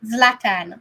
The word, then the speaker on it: Zlatan: How do you pronounce that name? Zlatan.